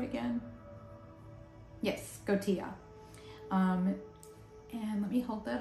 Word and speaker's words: Skotia: Yes, Skotia.